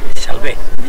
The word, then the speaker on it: Salve: Salve, con acento en la E.